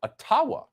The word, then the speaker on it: Ottawa: to let the mayor of ottawa or atawa as it's correctly pronounced ojibwa explain why peaceful truck